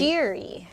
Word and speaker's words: Shiri: Yeah, so if you say like sheer, like something sheer, or Oh, sheer right. scissors. So why don't you spell it then S-H-E-E-R? It's like not as sexy. Okay. Shiri.